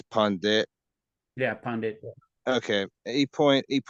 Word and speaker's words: Pandit: He particularly questioned the Pandita's use of the word. What's that word? Bhavani Bartu. Also, it's called Pandit. You don't pronounce the A. Oh, it's Pandit.